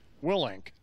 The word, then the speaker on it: Willink: Willink. Willink. That's right. Did I pronounce it right?